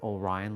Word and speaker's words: Orion: But they will eventually start making a mistake with my new name, Orion, because there's O''RYAN. No, that's not how you say my name either. It's Orion, like the star belt.